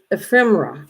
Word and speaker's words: ephemera: Ephemera, and I never say it right, but it's ephemera, and that's what you're doing.